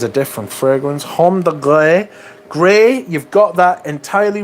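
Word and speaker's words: Grès: Homme de Grey. Grey, you've got that entirely right, except the last letter. It's not Y, it's S. Homme de Grez. But it's pronounced grey, you know.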